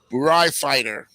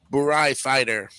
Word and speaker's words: Burai Fighter: Burai Fighter. Sounds like Samurai Fighter, I guess. All right, Brandon Bogart, you're up with this one.